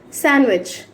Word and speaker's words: sandwich: శాండ్విచ్. శాండ్విచ్ కాదు. స్పెల్లింగ్లో D ఉన్నప్పటికీ మనం if D is placed between 2 consonants, we should not pronounce D. Okay? Sandwich.